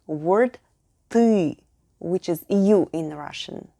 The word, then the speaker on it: ты: It also featured our next U word, ты, which is you in Russian. Take a regular t sound and add a slightly longer Say it with me. Ты.